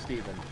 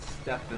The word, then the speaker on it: Stephen: chose Steven it's pronounced Steven I will never not pronounce it Stefan I don't know why it's it's sort of like how you pronounce Stephen King Stephan King it's just